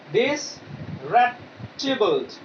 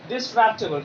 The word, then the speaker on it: disreputable: All right, the pronunciation is disreputable. All right, disreputable, and the meaning is not considered to be respectable in character or appearances.